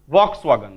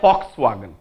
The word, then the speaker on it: Volkswagen: लिखा है वॉक्सवैगन but German we टाकू फ पढ़ंती फ लिखती भी पढ़ंती कौन फ कौन हम ताले फॉक्सवैगन now this is known